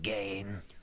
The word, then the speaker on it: Gahan: Do you trust Gahan?